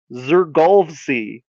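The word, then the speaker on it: Xfrgolszy: They pronounce it Zurgy.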